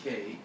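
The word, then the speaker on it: Kaj: And Kay, that's spelled K-A-J, it's pronounced Kay.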